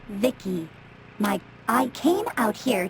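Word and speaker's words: Vici: By the way, I'm V I C I pronounced Vicki.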